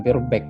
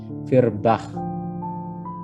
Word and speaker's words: Feuerbach: Itu tadi bacanya bukan Feuerbach ya. Feuerbach. Ya, cara bacanya gitu.